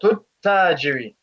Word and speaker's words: التاجر: So you say حديقة, and then straight away you go to the ta with the shadda, and you drop the alif and the lam in pronunciation because the ta is a sun letter.